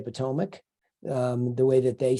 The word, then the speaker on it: Potomac: isn't from around here it's Potomac um and we deal in Potomac a lot so I just wanted to make sure that she knows that that's how you pronounce it yeah she she has